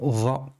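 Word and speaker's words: ظ: Donc ici, c'est va. Il y a la pointe de la langue qui sort légèrement pour prononcer va.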